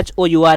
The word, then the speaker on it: hour: एन आर होता है, देखिए HOUR है आपका, एच क्या है आपका एक कॉन्सोनेंट यहाँ पर, लेकिन साउंड कैसा आता है यहाँ पर, साइलेंट यहाँ पर है, वॉवल साउंड यहाँ पर आता है, इसलिए यहाँ पर एन